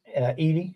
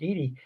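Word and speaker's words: Edey: interesting to watch um Eddie Edy I think is the way you pronounce the name Zach Edy and cling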